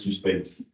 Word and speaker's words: suspense: Ça dit suspense en français, hein, même ça se prononce suspense.